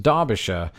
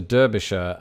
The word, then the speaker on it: Derbyshire: the case of Derby there is in fact precedent going back to the 1600s of the word Derby being spelt with an A on maps as I